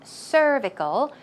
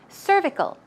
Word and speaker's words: cervical: uterus so cervical pronounciation there's a stress right there on cervical cervical one more time cervical good job and the